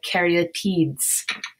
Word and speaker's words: caryatid: that Carrie at Eid and you say it like Carrie like you're carrying the porch a deed even though it says TI d it's TI t it's more like t ee d and you can see